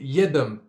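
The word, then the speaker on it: Yiadom: Y-I-A-D-O-M. Ouais, c'est Yadom de ce que j'ai vu.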